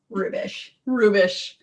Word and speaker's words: Hrubes: There's a silent H. I mean, I've never had anyone get it right ever. Rubish.